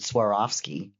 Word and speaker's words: Swarovski: I swear off skiing. Swarovski. And you take the I off the front and the ing off the back, and it's Swarovski.